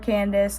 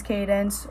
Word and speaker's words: Cadence: That's mainly because I always get called Candace because my name's Cadence, or I get called Candence.